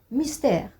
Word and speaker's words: mystère: Regardez, mystère. Donc ici, la syllabe qui suit le E contient une lettre muette, contient une voyelle muette qui est le E. Je ne l'ai pas prononcé. J'ai dit mystère. Je n'ai pas prononcé le E puisque c'est une lettre muette.